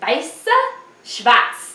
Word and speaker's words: Weiss Schwarz: It's Weiss Schwarz.